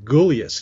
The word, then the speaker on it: Gulyas: So I'm just going to make sure that is it Gulyas?